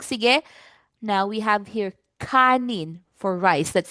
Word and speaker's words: kanin: Um ngayon let's practice um pronouncing this word sa tagalog. Sige. Now we have here kanin for rice. Let's say kanin three times.